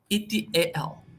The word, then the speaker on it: et al: So how to pronounce at etal?